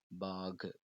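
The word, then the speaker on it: बाघ: பாக். இந்த கு அப்படின்றது நம்ம ஸ்பீடாக ப்ரொனவுன்ஸ் பண்ணும்போது பாக் அப்படின்னு தான் வரும்.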